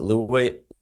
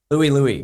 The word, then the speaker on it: Louie: The first song I learned on the drums was, how do you pronounce it? Liu.